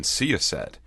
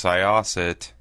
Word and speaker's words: Syosset: I've been pronouncing the name of this town wrong all day long. People kept saying, "Where are you staying tonight?" I'm like, "Oh, I'm staying in Seaset." Funny looks. Thought, wonder if I'm not saying that right. Sure enough, it's Syosset.